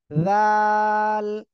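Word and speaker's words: ذ: একসাথে বলেন জাল জাল দেখেন জিহ্বার আগা এই জিহ্বার আগা সামনে দুই দাঁতের আগার সঙ্গে লাগান লাগিয়ে উচ্চারণ করেন জাল জাল একসাথে বলেন জাল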